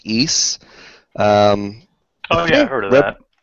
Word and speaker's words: Ys: games the spelling of it is YS it's pronounced eise oh yeah heard of that yeah rabbis i